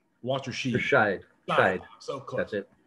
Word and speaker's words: Walterscheid: Gary, I should have asked your pronunciation. Walterscheid. So close. That's it. Walterscheid.